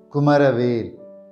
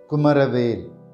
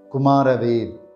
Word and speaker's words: Kumaravel: This is how we pronounce the name Kumara Vel. Kumara Vel. This name also can be pronounced as Kumara Vel. Kumara Vel.